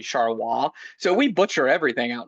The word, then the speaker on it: Charleroi: We have Charleroi, which is actually Charleroi.